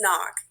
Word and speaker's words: Nock: oh my bad hi i'm miss knock pronounce n-o-c-k all right so what